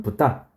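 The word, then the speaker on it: 豚: 일본어 에서 중국어 발음 대로 읽으면 " 톤 " 이 됩니다 . 톤 , 톤 , 맞아 요 , " 톤 " 이에요 . " 톤 " 으로 읽을 수도 있고 , 원어민 발음 으로 는 " 부타 " 라고 읽을 수도 있습니다 .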